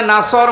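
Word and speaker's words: نَصْر: এখানে সোয়াদ আছে, নাসর মানে সাহায্য, আর নুন সিন র নাসর মানে ঈগল পাখি।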